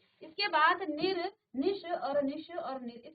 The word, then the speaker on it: निर्: जोड़ा तो निर्धारण और आप जानते हैं र को आप ऊपर लगाते हैं ये आधा र का उच्चारण करता है और इसका जो प्रनं